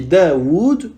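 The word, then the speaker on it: داود: Daoud, Tawus, Haoun et Qaoun. Normalement, Daoud s'écrira avec 2 waw. Del, elif, waw, waw, del. Mais les Arabes ont effacé le deuxième waw et ont laissé la prolongation dans la prononciation.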